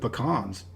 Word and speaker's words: pecan: Another staple for the Southeast is anything with pecans.